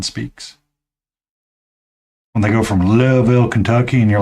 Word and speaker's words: Louisville: that you can barely figure out how many syllables are in a word from when someone speaks. When they go from Louisville, Kentucky, and you're like, how do you? It's Louisville, not Louisville.